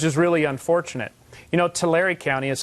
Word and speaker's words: Tulare: we took which is really unfortunate you know Tulare County is how it's pronounced actually but the Tulare County we are